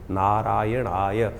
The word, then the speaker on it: नारायणाय: बिल्कुल सही होना चाहिए कई बार लोग मंत्र का जप करते करते थोड़ी सी गलती कर देते हैं नारायणाय नारायणाय नारायणा नारायणाय नारायण नाराय नहीं है नारायणाय ओम नमो नारायणाय इस